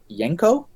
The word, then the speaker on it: Janko: A designer, I believe it's pronounced Yenko, I think, spelled Janko.